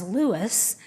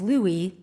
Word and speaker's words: Louis: Louis Armstrong referred to himself as Louis, but growing up near the French Quarter in New Orleans, most people used the French pronunciation of Louis, and it stuck.